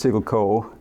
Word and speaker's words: Siggelkow: So it's a name that's widely mispronounced, but it's Siggelco.